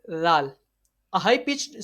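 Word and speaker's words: ز: Za is a letter of Safiria. So this letter is being read by stretching the voice for 1 second, and this letter, while pronouncing, while reading this letter, a visual like high pitched sound is created. Okay, got it? And this letter is pronounced from the tip of tongue.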